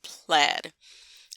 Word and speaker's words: Plaid: But a lot of my viewers were saying that it's pronounced plaid, just like the fabric or the clothing, which I just think brings a bad name to those pieces of wear.